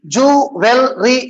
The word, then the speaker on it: jewelry: How many syllables? If you say 3, jewelry, you are wrong.